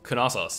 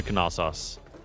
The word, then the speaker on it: Knossos: You do pronounce the K.